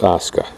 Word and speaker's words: Asuka: to O Asuka now notice that that's pronounced Asuka go figure lots of other things in Japanese sound like they look in kanji not this one now how do you